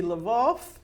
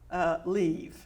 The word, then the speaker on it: Lviv: And what used to be Lvov is now Lviv.